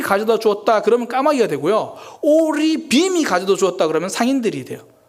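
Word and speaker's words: ערבים: 오리빔이 가져다 주었다. 그러면 상인들이 돼요. 제가 지금 구분을 하고 있죠. 제 발음이 구분되고 있죠.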